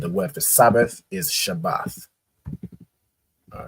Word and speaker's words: Shabbath: here sha AA and a right so it's pronounced shabbath right shabbath not not um not Shabbat Shabbat